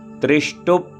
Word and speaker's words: त्रिष्टुप: त्रिष्टुप, त्रिष्टुप पा को जल्दी बोलना क्योंकि हलंत लगा है, पा आधा है, इसमें आ नहीं है, तो त्रिष्टुप ऐसा बोलेंगे तो अशुद्ध है।